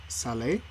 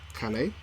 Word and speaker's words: Calais: It's in an area called Salé. Calais, is Calais, it? Calais. Sorry, I've been trying to pronounce that all day.